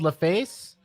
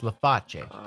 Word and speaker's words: Laface: um laf Juliana yeah so it's spelled laface and she said sometimes people will say that but it's because it's Italian it's lafache with the hand much better so we're